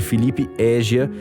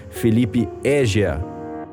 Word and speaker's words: Felipe Égia: e a sonorização de Felipe Égia, que na semana passada ficou bravo comigo porque eu pronunciei errado o sobrenome dele. Fica aqui a correção, repita comigo, Rogério, Felipe Égia. Felipe Égia.